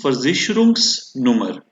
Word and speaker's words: Versicherungsnummer: have seen till date, this S becomes a part of first word. So it becomes Versicherungsnummer, right?